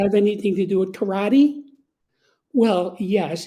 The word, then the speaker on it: karate: Does that have anything to do with karate? Well, yes, it's the same thing, but in Japanese it's pronounced karate.